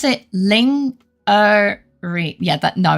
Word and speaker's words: lingerie: It's a French word. It's pronounced lingerie. There you go. Good luck, Chisu. But obviously, lasagny and and uh lingery.